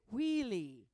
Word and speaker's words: Willie: was saying it wrong they say wheelie wheie and I'm saying Willie and I realized they